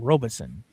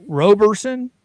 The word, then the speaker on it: Roberson: That's Now, this was his original lawyer, Mr. Robinson, right? Is that how is that Robertson? Roberson. Roberson.